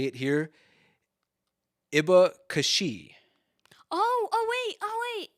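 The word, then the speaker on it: abacaxi: if i remember correctly i think it's pronounced something more like a a bakashi probably something like that okay okay um and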